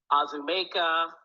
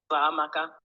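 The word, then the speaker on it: Uzoamaka: And I would have teachers or anyone, neighbors, try and say my name, and it would be Azumeka, Uzamaka, Uzokuza, any version that they could think of other than Uzamaka.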